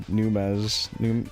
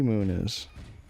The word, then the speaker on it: Muniz: I guess it's hard to replace like Frankie Numez. How do you say his last name? Numez? And then like Cal and whatever the mom's name is. Frankie Muniz.